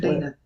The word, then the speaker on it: Deana: her name exactly like you do and she pronounces it Dean but you're Dena I'm Dena my given name is actually